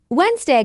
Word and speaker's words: Wednesday: Wednesday comes from Woden's day. Many learners miss the silent D in the first syllable.